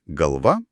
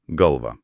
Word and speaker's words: galvà: Ir dar kirtis laisvas, kilnojamas. Taip, jo vieta gali keistis tame pačiame žodyje priklausomai nuo gramatinės formos ir tai taip pat gali skirti reikšmes ar formas, pavyzdžiui, galva ir galva.